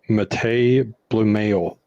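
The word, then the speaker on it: Matěj Blümel: It's pronounced Matej Bluemail.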